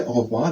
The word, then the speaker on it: au revoir: Now the next thing is goodbye, au revoir.